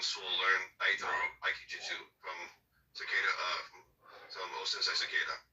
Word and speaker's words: Takeda: The truth of the matter is, Chaeyoung Soo learned Daito Aikijutsu from Takeda, from Osensei Takeda. Like I can't remember how to pronounce his name. Takeda. I'm sorry, it's Takeda.